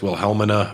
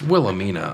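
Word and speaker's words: Wilhelmina: She was always Will Helman Murray, but it's it's Willamina allegedly. Uh yes, they've gotten along since then.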